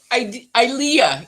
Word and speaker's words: Ilea: Okay, it's pronounced Ilea. It rhymes with idea.